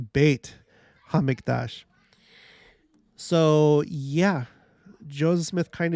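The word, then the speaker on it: בית המקדש: let's find out okay the Holy Temple in Hebrew bet hamiktash yeah yep oh sorry sorry pronounced bait hamidash so yeah Joseph Smith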